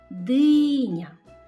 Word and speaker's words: диня: Так, диня. Наголошений склад який? Так, перший.